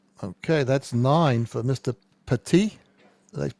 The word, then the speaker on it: Petit: bit ad hoc okay that's nine for Mr Pati did I pronounce that correctly yes and what I know